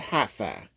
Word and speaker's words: HiPhi: SUV it is all electric yes I said HiFi uh in case you want to know how it's spelled this is how you spell it okay